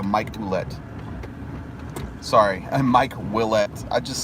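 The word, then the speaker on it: Ouellette: I think for the first year or so, I called him, I remember calling him Oulette for about a month, maybe. And then somebody said, no, it's pronounced Willette.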